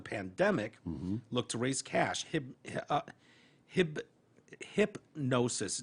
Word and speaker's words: Hypgnosis: Hypnosis, it's spelled weird, Hypgnosis, Hypnosis, announced the purchase of half the copyright and income interest for his 1,180 songs, including Heart of Gold.